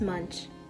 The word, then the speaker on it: Munch: It's Munch.